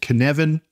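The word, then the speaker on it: Cynefin: tend to use snowden's framework which is called Canan uh which is spelled c y n e f i n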